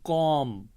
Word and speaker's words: comb: तो इसकी एक और मिसाल भी मैं देता हूँ, जैसे COMB, कॉम, इसमें जो बी वाला लास्ट है इसकी साउंड नहीं पड़ी जाएगी, ये कॉम है।